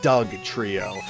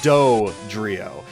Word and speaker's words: Dodrio: for a dodrio now it's really weird when pronouncing dodrio because I always want to say Doug trio instead of doe 3 oh and it's really weird